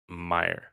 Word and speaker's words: Meijer: And that's how it's spelled, but that's how it's said, Meijer.